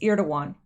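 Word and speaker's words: Erdoğan: given letter President Trump sent to Turkish president ear 2-1 Pelosi I found out that is the proper way to pronounce it as ear to one I guess the G is silent in Turkey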